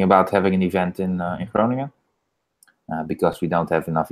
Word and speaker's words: Groningen: Is that I'm sure I'm pronouncing that wrong, but how do you Yeah. say the name of the city? Groningen.